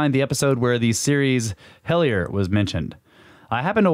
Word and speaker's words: Hellier: It's spelled like hell and then I-E-R. Hellier.